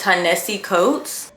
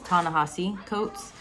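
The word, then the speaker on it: Ta-Nehisi Coates: author's name wrong, but I believe it's Tanessi Coats. Okay, I had to come on here to correct myself. His name pronunciation is Tanahasi Coats and I went on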